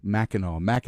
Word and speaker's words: Mackinac: I could not, Mackinac. I don't remember now. I don't even want to say it wrong because then I'll say it wrong when I really need it. Mackinac Island.